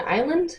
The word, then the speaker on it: Isla: The audiobook says Isla, spelled like isle, like an island, but with an A. So I keep calling her Isla. It's Isla.